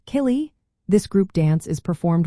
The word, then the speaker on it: Céilí: Kaye dancing is another popular style pronounced killy.